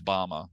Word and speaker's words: Bama: over to uh James Bama or as I think oh yeah the aora Bill Stout Bill Stout was telling me it's actually pronounced Bama but um it that the